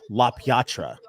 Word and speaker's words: LaPietra: my wife's biological last name is LaPietra, but it's pronounced La Piatra.